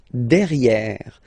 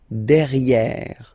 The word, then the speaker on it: derrière: So if you look carefully, you've got E here and then double R, so it will open the sound of this E, and you should pronounce it E, okay? Derrière. Same thing here. You've got this E accent grave, E. Derrière. Okay? Don't pronounce the final E.